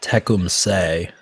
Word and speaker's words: Tecumseth: attack so I'm now learning that it's pronounced teum say is the research I've conducted the last couple